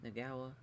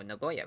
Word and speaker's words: Nagoya: Oh yeah, the, Nagawa. Oh, Nagoya, rather.